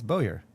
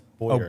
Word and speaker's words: Bowyer: last name that Well, you said my last name wrong. it's Bowyer. That's Bowyer.